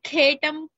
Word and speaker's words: खेटं: सौवर्णशशकं तथा मातुलुङ्कमयं केटं सौवर्णशशकं तथा In your PDF, khetam kha is mahaprana.